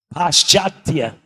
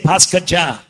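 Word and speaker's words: पाश्चात्य: Paschatya. Paschatya. Western. Right? But Western devotees, what do they say? Paskacha.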